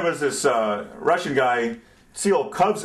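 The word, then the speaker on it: Tsiolkovsky: Then there was this uh Russian guy Seal Cubs. As far as I can tell, the correct pronunciation is Tio Kovsky.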